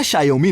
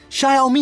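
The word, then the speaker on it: Xiaomi: इसी तरह शायोमी नहीं, शायोमी होता है।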